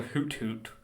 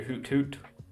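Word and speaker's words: Hoothoot: wanted to catch a hoot hoot I don't I normally call it a hoot hoot but there's a t in the middle so I'm trying to pronounce my letters a bit better there's a hoot hoot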